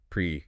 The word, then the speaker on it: PRAC: Pre yeah pronounced like practical stands for performance, resilience, assurance, and compliance.